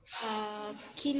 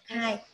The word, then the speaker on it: kind: How do you pronounce this word? Kín không?